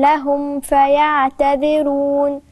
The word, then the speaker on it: لهم فيعتذرون: الميم مش باينة، لهم فا، خلي بالك الميم والفاء، ما فاء الاتنين فيهم قرب، لازم اظهر الميم صح، لاما هتتاكل وسط الفاء، لانهم الاتنين من الشفاه، ميم فاء، فخلي بالي وانا بنطقهم اظهر الميم عشان ما تتاكلش في الفاء، فتهيأ لي انها ادغام ودي مش ادغام، او اخفاء وهي مش اخفاء، انما هي اظهار.